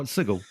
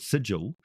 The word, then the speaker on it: Sigil: it's a city called now how do you pronounce it sigle or sigil oh sigle the reason why it is called sigle is is simply because of that whole um